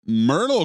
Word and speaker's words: Myrtle: Myrtle comes up, pronounced like turtle or girdle.